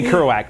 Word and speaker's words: Kerouac: I can't pronounce it. Like Jack Kerouac. Yes, thank you. If I say his name, I can say Kerouac, but if I try to read it off, like. Kerouac.